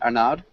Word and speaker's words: Arnaud: And Arnaud, I'm not sure. Am I pronouncing your name correctly, Arnaud? Arnaud, yeah, it's cool. Arnaud, Uh, Arnaud, okay, Arnaud, Arnaud. Those Arnaud, R's are difficult. Arnaud, Arnaud, like O.